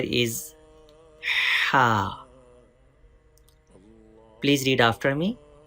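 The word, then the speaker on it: ح: Ha is pronounced from the middle part of the throat. Please read ha with clear and soft sound.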